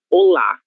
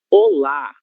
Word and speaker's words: olá: em la penúltima sílaba, em português, esse saludo terá como sílaba tônica a sílaba lá, ok? Então, a forma correta de pronúncia será olá, olá, certo?